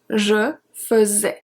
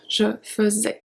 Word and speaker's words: faisais: Je faisais, je faisais. So AI is pronounced as a E as well, je faisais.